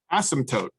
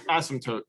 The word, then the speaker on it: asymptote: usually say s asymptote most people don't actually pronounce the p um so let's delete that word okay so that's it's asymptote that's how you pronounce